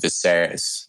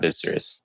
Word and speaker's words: Viserys: correct myself from earlier it's pronounced Viserys not the Souris and they didn't actually